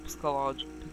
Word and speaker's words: psychological: So it's more psychological. I don't know if I'm pronouncing it correctly, but it's psychological. Psychological. The P is silent.